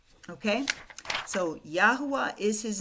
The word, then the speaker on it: Yahuwah: So when we put this word all together, I'm going to say Yahuwah because that's the way I pronounce it.